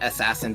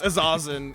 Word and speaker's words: Azazan: honestly pronouncing assassin very weird. No, it's Azazan. It's like because Azazel is a demon.